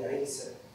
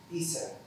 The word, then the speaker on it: عيسى: الذي تؤمن به، فإن عيسى اسم عربي ينطق هناك عيسى، وهو ما يعني الرقم واحد بالفلبينية.